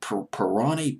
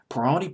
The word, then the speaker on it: Pirroni: name, Marco Pirroni, I believe is how you pronounce it. Pirroni, Pirroni.